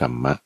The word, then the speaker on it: กัมมะ: ม้า หมอ ม้า สล อ่าน ว่า กรมมะ เป็น ภาษา บาลี เขียน เป็น ภาษา ไทย